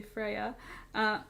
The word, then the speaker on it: Freya: I don't know if I said either of those right, but I know Freya is pronounced Freya because that's what Freya's name is.